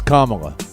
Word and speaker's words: Kamala: you think I know nothing about her it's Kamala Kamala and he screwed that hey he screwed